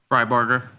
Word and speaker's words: Fryberg: am I pronouncing your last name correctly? Fryburger. Yeah, it's phonetic.